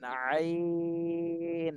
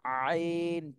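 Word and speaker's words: عين: এরপরে এটা হলো আইন আইন এটাও কণ্ঠনালীর মধ্যখান থেকে হবে কিন্তু চার আলিফ টান দিতে হবে এটা আইন চাপ দিয়ে গলার মাঝখানে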